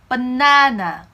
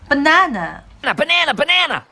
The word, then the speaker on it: banana: 더 중요한 거는 바나나 버네너가 아니라 중간에 스트레스가 있죠. banana 이런 강세의 위치가 더 중요하다고 할 수 있어요.